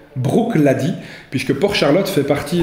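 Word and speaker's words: Bruichladdich: distillerie clady puisque feu ne se prononcent pas bruch l'a dit mais brooke l'a dit puisque pour charlotte fait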